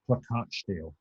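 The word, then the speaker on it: Plakatstil: i've heard pronounce it in america pronounced it pakisteel but according to a german friend of mine it's pronounced placard steel so it's uh but it but basically it's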